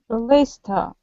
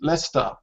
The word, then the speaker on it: Leicester: Leicester. Plymouth. Yeah? So this is the schwa sound here. Usually the words ending in ER have a schwa sound.